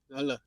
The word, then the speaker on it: Hala: Hala. There we go. Hala's the correct pronunciation.